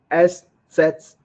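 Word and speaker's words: ß: But in German, it is pronounced S set or sharpest S.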